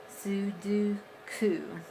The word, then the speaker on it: Sudoku: My daughter says it's Sudo, Sudo, like do you, Sudoku. I'm like, okay. Yeah, I think I used to say Sudoku too.